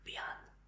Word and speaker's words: bien: Se escribe igual que en el español, pero se pronuncia bien.